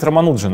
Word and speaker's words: Рамануджан: сжатом Почему они Кстати романуджин это разве правильно ударение фильм фильмы сегодня романул Джон Хотя Казалось бы все индийские фамилии они на последние Да слог не знаю когда я